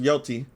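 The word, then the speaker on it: Yōtei: Apparently in Ghost of Yotei, that's how you say it, a progressive activist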